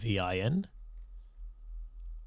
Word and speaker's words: Yavin: I don't know if I was pronouncing that right. It's Yavin, and it refers to.